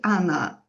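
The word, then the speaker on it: она: So you say you write Ona, but you say Anna.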